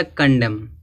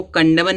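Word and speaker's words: condemn: फिर यहाँ दिया कंडम। अब इसको कंडमन नहीं पढ़ेंगे क्योंकि देखो यम है, यम के बाद क्या आया, यन आया तो यन क्या होगा, साइलेंट होगा। तो इसको क्या पढ़ेंगे, कंडेम।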